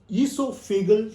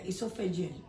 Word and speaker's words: esophageal: including a book on esophagal speech I hope I pronounced that right yeah esophageal esophageal speech okay so that's the